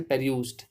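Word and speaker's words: perused: पेर्यूज्ड, इसको इसका सही वो होगा प्रोनाउंसिएशन, पेर्यूज्ड, किसी चीज को ध्यान से पढ़ना।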